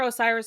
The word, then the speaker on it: Osiris: Right, there's a phonetic, like, Egyptian pronunciation. Yeah, that's, like, actually how it is. I'm pretty sure Osiris is probably, like, the more Greek.